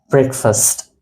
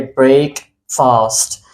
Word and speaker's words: breakfast: word it's called as breakfast and if I break this word into two so I'll say break fast but the pronunciation of this word is breakfast so this was all